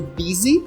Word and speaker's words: busy: seguida nós temos o busy que significa ocupado presta bastante atenção aí nessa pronúncia aí Apesar de que escreve com u o som é i Tá eu já escutei